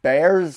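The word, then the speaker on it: Bearse: with the pronouncing names bears that is how you pronounce it that is how you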